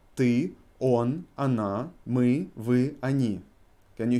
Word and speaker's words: она: So, я, ты, он, она, мы, вы, они. Can you hear my pronunciation on она and они? I pronounce first O as A. Она, они. Because O is not emphasized.